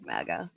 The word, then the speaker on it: MAGA: And don't hate on me that, because I'm not a mega person. I'm Canadian. So don't even go there. I can tell you're Canadian by how you pronounce MAGA.